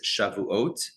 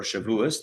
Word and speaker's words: Shavuot: So today the theme is Shavuot or Shavuos, depending on your pronunciation.